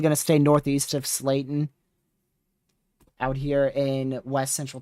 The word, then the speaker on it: Slayton: They're probably already sounding is that Slatin or Slayton? Is that an L? I think that's an L. I'm terrible with pronunciations if you couldn't tell. But yeah, still probably near 80 mile an hour winds, if not locally greater than that, ongoing. Just to the southeast of Roosevelt. I'll look up a pronunciation for it. So it is Slayton. Yeah, it's Slayton. Slayton.